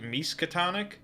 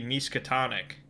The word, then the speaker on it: Miskatonic: You know, I get harped on sometimes because I pronounce it Miskatonic. And I recall doing research when I made, like, the locations video that told me that it should be Miskatonic.